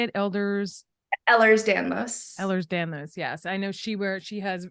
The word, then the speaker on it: Ehlers-Danlos: My daughter's doctor, she has EDS, is Elders, how do you say it? Ehlers-Danlos, yes.